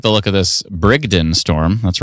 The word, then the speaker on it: Brigden: I don't like the look of this Brigden storm. That's right. I pronounced it right for the first time in my life.